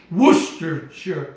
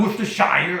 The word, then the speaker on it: Worcestershire: And then you're going to need, here it is, Worcestershire sauce. Worcestershire sauce. Not Worcestershire, I know we like to call it that, but it's Worcestershire sauce.